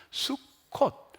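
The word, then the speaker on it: סוכות: 초막절을 히브리말로 뭐라고 말하면 히브리 말이 좀 어려워요 수콧이라고 발음을 했어 수콧 수컷이라는 건 사진으로 보면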